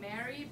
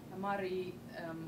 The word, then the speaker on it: Mary: Many of you probably have seen it and call it Mary, but we actually pronounce it as Mari.